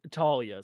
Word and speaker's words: Thalia: the thing Thalia wanted Talia sorry there's an H in it but you don't pronounce the h Christopher C H makes